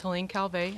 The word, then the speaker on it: Helene Calvet: beach thank you dr fielding my name is helene calvey i'm the health officer for the city of long beach my name is spelled h-e-l-e-n-e c-a-l-v-e-t the long beach department of